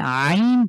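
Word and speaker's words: عين: নাম হয়ে যাবেন তাহলে আইন টাকে ঠিক হার মতন করে উচ্চারণ করব খুব ভালো করে একটু শোনেন তো মনোযোগ দিয়ে কিভাবে উচ্চারণ করছি আইন আই কন্ঠে মাঝখানে চাপ দিয়ে উচ্চারণ করছি আমি ঠিক যেভাবে হা কে উচ্চারণ করেছিলাম এই হা এবং আইনের উচ্চারণ সেইম কন্ঠে চাপ দিয়ে গলার মাঝখান থেকে আবার হাম একটু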